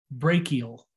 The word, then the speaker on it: brachial: your upper arm is brachial whenever you see a ch in this class it's a hard k sound brachial we're looking from an